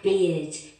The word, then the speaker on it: beard: Beard, that is the pronunciation. Después tenés beer, de cerveza, y beard, de bear, de oso.